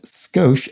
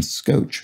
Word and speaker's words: skosh: in your eyes says skosh s-k-o-s-h does seem to be pronounced with a normal s-h sound as written i can't find reference to the pronunciation scotch which is what i think i maybe thought it was spiral in your eyes